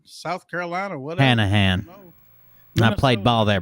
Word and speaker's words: Hanahan: Hello from, I don't even know how to pronounce it. Hainan, South Carolina. Whatever. Hanahan.